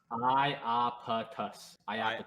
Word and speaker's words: Iapetus: Pronounced Iapetus.